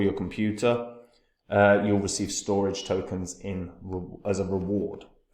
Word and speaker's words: Storj: storage so storage uh I know it's meant to be pronounced storage but I like saying storge um stor is in